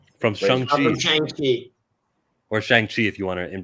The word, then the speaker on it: Shang-Chi: Or Shang-Chi, if you want to pronounce it correctly.